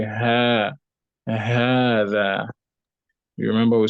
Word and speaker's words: هذا: Now note, remember that when we learn هذا, we said this the ha of هذا is elongated when you pronounce it, although like the alif is not written after it.